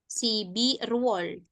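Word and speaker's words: 십일월: Iya, dibacanya Sibirwol.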